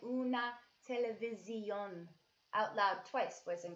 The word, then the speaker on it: televisión: Una televisión. Not vision, like in English, but visión. Visión. So go ahead and say una televisión out loud twice, boys and girls.